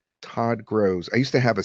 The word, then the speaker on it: Gross: Now, sometimes it gets my name wrong and it says Gross. So I'll write Gross like that, which sometimes it pronounces Grows, but it's closer. Todd Grows.